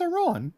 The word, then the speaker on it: Iran: It's not Iran. It's Iran.